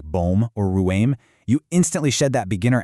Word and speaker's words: ruim: Next up is ruim, ending in a nasal M.